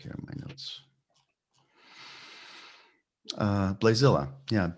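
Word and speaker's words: Blaesilla: to go back here in my notes uh blazilla yeah b l a e s i okay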